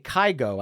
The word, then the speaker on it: Kygo: And then if you want to tie it into 2020, just like Dua Lipa, that year, Norwegian DJ Kygo, I think is the way it's pronounced, released a kind of